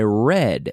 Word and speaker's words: read: I read yesterday I read and it's pronounced just like the color red did you speak to